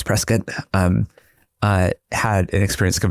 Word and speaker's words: Prescott: He's Arizona so it's not Prescott, it's Prescat.